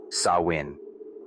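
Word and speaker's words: Samhain: They called this night Sam Hoyen, pronounced sawin.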